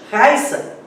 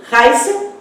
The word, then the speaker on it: Raissa: Observe aqui, Raissa e Raíssa, ou seja, palavras diferentes, né? Nomes diferentes. Por quê? Mudou-se a sílaba tônica.